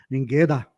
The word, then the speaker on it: Nienkötter: Mas os alemães da minha aldeia falavam Ningueda. Como é que é? Ningueda? Ningueda. Porque esse T-T-T-E-R vira um dá.